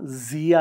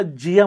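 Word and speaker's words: Zia: टंग टविस्टिंग आहे जसं माझ्या मुलीचं नाव झिया आहे जिया झेड आय ए आपले महाराष्ट्रीयन लोक त्याला जिया म्हणतात जिया म्हणजे त्याचा अर्थच वेगळं झालं तर झेड सायलेंट आहे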